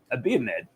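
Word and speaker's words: Abiomed: bit extra Insight this is J J buying a bmed that's how you pronounce it not that is it's a bin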